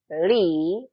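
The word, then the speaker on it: لي: Li, panjangin li-nya. Karena li itu artinya saya punya.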